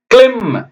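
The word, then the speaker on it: climb: இவ்வளவு பெருசா நான் உங்களுக்கு வச்சிருக்கேன் ஓகே அடுத்தது பார்த்தீங்கன்னா கிளிம் சி எல் ஐ எம் பி இக் லி இம்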